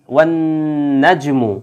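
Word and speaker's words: والنجم: এবং কি আছে, ওয়ান ওয়ান নাজমু, এই যে নাজমু আলিফ লামের সাথে এই যে নুন যেই হরফটা এটা কিন্তু সূর্যাক্ষর, এই জন্য কিন্তু দেখেন আলিফ লামের উচ্চারণ হচ্ছে না, উল্টো এই নুনের উপরেই তাসদিদ চলে আসছে, অর্থাৎ নুনকে মোসাদ্দিদ করা হয়েছে এই জায়গায়।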